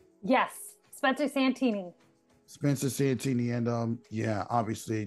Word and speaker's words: Santini: Her name is Spencer how you pronounce her last name? Santini? Yes, Spencer Santini.